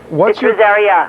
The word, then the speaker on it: Rosaria: Okay, it's Rosaria.